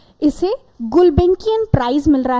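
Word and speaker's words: Gulbenkian: जब भी कोई ऐसा वर्ड जो वेरी डिफिकल्ट टू प्रोनाउंस हो, तो हम क्या करेंगे, उसको डिवाइड कर देते हैं, गुल बेन की अन, ठीक है।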